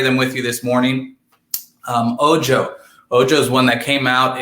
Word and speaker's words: Ojo: So check out Ojo, which is O-J-O. That's how you spell it. Ojo, also Oho.